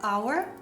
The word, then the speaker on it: hour: Ci sono solo 5 eccezioni in inglese di parole che iniziano con la H dove la H è muta e sono our, allora, honest, honor, heir and heiress e i loro derivati.